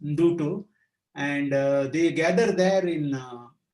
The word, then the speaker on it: Ndutu: During the month of February, these wildebeests congregate in a place called Dutu, and it is spelled as Ndutu. N is half pronounced, Ndutu, and they gather there in millions.